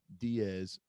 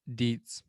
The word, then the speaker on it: Dietz: Dietz. Dude, I really someone please come teach me how to pronounce names. I'm gonna guess that it's Deets. Dietz. No, that is what it is.